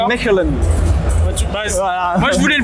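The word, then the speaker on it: Mechelen: ici c'est en francophone c'est maline et en erlandophone ouais c'est ça en français c'est maline et en erlandophone en flamand c'est Melen moi je voulais le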